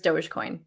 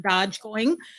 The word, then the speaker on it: Dogecoin: just to confirm but i'm pretty sure it's joe's coin i i i i think you're right that's how i've heard everyone pronounce it um there's no d in it so it's not dodge going so yeah i think